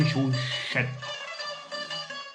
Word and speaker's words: Chauchette: Comme chaussette, et c'est Chauchette. Bon, bah, je prononce pas très bien, hein, mais bon, hein, je suis ouzbek.